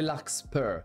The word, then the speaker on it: Larkspur: On va l'appeler Larkspur, parce que c'est de l'anglais.